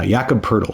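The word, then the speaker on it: Jakob Poeltl: pronounced Jakob and then it's like turtle with a p so Pearl uh yakub poodle so thank you for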